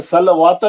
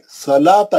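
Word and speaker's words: صلوٰة: चार हरूफ गिरा दिया सलाता स लाम पे खड़ा ज़बर है ये वाऊ साइलेंट है ये वाऊ नहीं पढ़ सलवाता नहीं है ये सलाता ये वाऊ साइलेंट है छोड़ देना है वाऊ को नहीं पढ़ना खाली है ना उस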